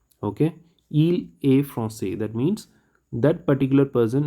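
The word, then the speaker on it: française: pronounce the s and in feminine i'll pronounce the s so that is the difference from say from says france francais francaise repeat france francais process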